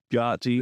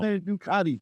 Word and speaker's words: Gotti: That's how John Ducati is spelled. Gotti. It's Gotti, bro. Why? I don't. Ducati.